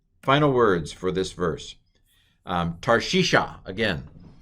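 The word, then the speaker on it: תַּרְשִׁישָׁה: What's the first vowel under the tav? It's a patak. What's the next vowel? It's a shava, but it's finishing the syllable, so it's a silent schwa. This syllable's closed. Tar. What's the next vowel? Piggybacking with the yod? It's a hirik yod. It's an E sound, transliterated as a long I.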